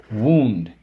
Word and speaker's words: wound: sound different beautiful fabulous they are hetero names that means that y'all spelled the same but they sound different okay so let's go SIL LA both syllable syllables wound injury hurt pain like you've wounded my heart when you hurt my feelings what ow and wound she wound up the toy and it moved okay you wound up